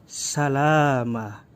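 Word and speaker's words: سلاما: dan pada kalimat ini kita tidak boleh membaca salaman karena berada di wakaf yg tepat berhenti maka dibacanya salama hai yang ini pun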